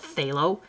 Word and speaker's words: phthalo: So phthalo, phthalo green there. And lots of people just forget about the pH altogether and just call it phthalo, which is fine too.